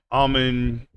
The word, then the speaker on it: almond: And I would say almond has a silent D too, pretty much the way most people pronounce it.